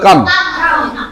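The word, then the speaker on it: calm: Half, এটার উচ্চারণ এল ছাড়ে দাও তাহলে হবে কাম।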